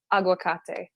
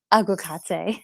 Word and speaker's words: aguacate: Aguacate. Aguacate.